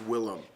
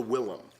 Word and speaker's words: Willem: If you're hearing me say Willem Dafoe, it's because it's pronounced Willem. He changed it from William to Willem.